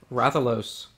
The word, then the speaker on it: Rathalos: Rathalos. I think I got that one right, actually. How to pronounce that one.